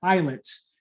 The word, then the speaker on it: islets: we call eyelets pancreatic eyelids eyelid the s is silent it's pronounced like an island an eyelet is a